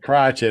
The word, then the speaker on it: Crockett: can't be afraid to say it it's crotches crotch it okay I didn't know if it was crochet or cry okay watch it all right I